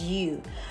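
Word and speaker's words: 鱼: The pronunciation of fish in Chinese is yu, which has a phonetic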